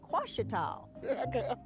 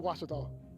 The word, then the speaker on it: Ouachita: University along your route some folks think the O is a Q and they say quash at all hey watch it dog watch it tall back in Texas everybody pronounces it Wichita but really it's Washington